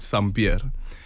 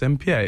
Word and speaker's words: Sampear: welcom it is s beer oh yes they pronounce it sambir when we moved to Soto in Orlando my